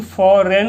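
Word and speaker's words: foreign: FROM from, freedom from, FORE फॉरेन, GN से, देखो यहाँ पे G क्या हो जाता है, साइलेंट हो जाता है। G से आप गौ भी जानते हो, जॉ भी होता है, लेकिन फॉरेन हो जाएगा, यहाँ पे G साइलेंट हो जाएगा।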